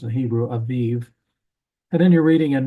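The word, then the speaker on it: אביב: English it looks like abib but it's in pronounced in Hebrew Aviv and then you're reading in Nehemiah and he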